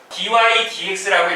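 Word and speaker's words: dy/dx: 지금 뭐 유리수처럼 살짝 보이지만 뭐 dx분의 dy라고 뭐 생각을 많이 하겠지만 그렇게 읽는 거는 아니고 약간 나중에는 뭐 약간 유리수 약간 개념처럼 뭔가 약분되고 그런 건 없지 않아 있는데 읽을 때는 어떻게 읽어야 하냐면 dy dx라고 읽어줘야 돼요.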